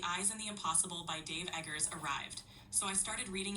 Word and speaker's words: Dave Eggers: The author's name is pronounced Dave Eggers, so it's pretty straightforward.